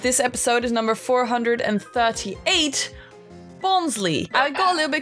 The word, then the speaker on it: Bonsly: episode is number 438 bonsly I think I'll never be confused by this name when I was doing my research on it because its name apparently comes from bonsai and fly so shouldn't it be